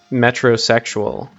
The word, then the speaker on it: metrosexual: Oh yes, I recently realized that the phrase metrosexual is supposed to rhyme with heterosexual.